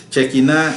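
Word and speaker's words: Shekinah: que lo usan el check in a así se pronuncia check in a es básicamente la presencia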